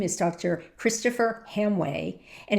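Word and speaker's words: Hamwi: Christopher Hamway and it's spelled h a m w i, but it's pronounced Hamway.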